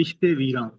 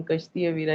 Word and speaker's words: کشت ویراں: کی سواری، کشت ویراں، کشت کہتے ہیں فصل، تو کشت ویراں، ٹھیک۔ یہ ہم تو تلفظ ٹھیک کرنا ہمیشہ سے، ضروری جی بالکل ٹھیک ہو گیا، کیونکہ ہمیشہ ہم کشتی ویرا ہی پڑھتے آ رہے ہیں۔ بہت شکریہ آپ کا۔